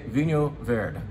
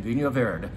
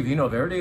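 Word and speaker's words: Vinho Verde: pronunciation lesson for you let's say Vin ver V ver now of course my Portuguese accent is missing but that is closer to the the correct pronunciation Vin ver you can say Veno Verity if you want we'll know what you mean but we want to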